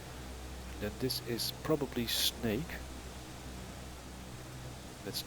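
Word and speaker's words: Sneek: And then this is probably Snake. That's not like the animal, but Sierra November Echo Echo Kilo. A double echo in the Netherlands is pronounced as A.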